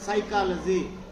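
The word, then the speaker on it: psychology: silent letters for example साइकोलॉजी सो पी एस वाई you right but पी is silent tsunami T एस यू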